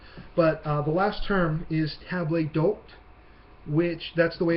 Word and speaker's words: table d'hôte: Now, I know I'm jumping a little bit ahead in the text, but the last term is table d'hôte, which that's the way it's pronounced.